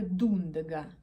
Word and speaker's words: Дундага: переходов теперь про пряжу это пряжа дундага ударение именно на первом слоге если вы не слышали